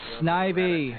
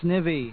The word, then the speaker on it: Snivy: Yeah, I always have weird pronunciations of And remember, guys, it's Snivy, not Snivy. There's no T on the end.